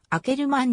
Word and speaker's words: Akkerman: のキャリアを誇るなおアッカーマンのオランダ語での発音は開けるマンに近いアムステルダム出身幼馴染の